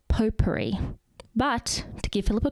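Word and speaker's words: potpourri: It's pronounced poperri. But to give Philip a credit, it is spelled pot puri. The t is just silent. It's a French thing.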